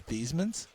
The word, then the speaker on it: Theismann: that door set yeah if you go back to New Jersey where Joe Theismann's family is from and you asked for the Theisman family someone will say you mean the thesemans because it was these men